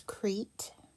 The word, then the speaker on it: Crete: is a place and it is pronounced exactly the way it looks it's one syllable have a silent e over here this is crete so you have uh